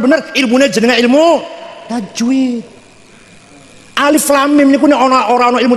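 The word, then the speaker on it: الم: Alif lam mim niku nek ora ana ilmu tajwid, kula dhewe macane alam. Alif lam mim niku tak waca alam niku. Tapi karena ilmu tajwid bilangnya jangan gitu bacanya. Ini yang ini nih.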